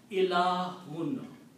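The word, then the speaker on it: إلهٌ: If I combine these three letters in this way, E, and on the first one I put a small alif, and on this third one I put two dhammas. It pronounced Ilahun.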